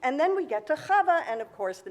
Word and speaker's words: Chava: When someone asked her, how do you spell that? She says, phlegm, H-A-V-A. That's how you would spell Chava.